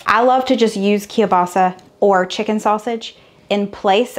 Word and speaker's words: kielbasa: say it kill Bossa how do you say it kielbasa it's like Mufasa and stop I'm waiting